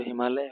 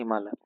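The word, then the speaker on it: ہمالہ: ہمالیہ یا ہمالا، تو صحیح اس کا تلفظ تو ہمالیہ ہونے والا ہے ہندی کے لحاظ سے، اور یہاں پر ہم نے لکھا ہے ہمالا.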